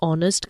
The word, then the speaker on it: honest: Some words that begin with a consonant followed by a vowel are pronounced with the sound of that particular vowel. The article an is used before such words. Examples: an hour-long meeting, an honest girl.